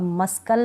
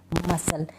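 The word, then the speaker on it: muscle: का उच्चारण नहीं होगा अब मस्कल नहीं बोलूंगी इसको पढ़ेंगे मसल सी इसमें प्रोनाउंस नहीं हो रहा सी इसमें साइलेंट है तो यह भी नियम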